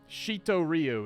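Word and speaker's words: Shitō-ryū: shito Roo shito Ryu shito Ryu is the correct pronunciation an old uh from old Okinawa not not the same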